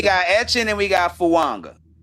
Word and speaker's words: Fuaga: Like it has an N in it. I put a Why not put a N in it? We got We got Etchin and we got Fuanga.